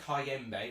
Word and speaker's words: Kayembe: They've got Tom Cleverley, Edo Kayembe, that's how you say his name.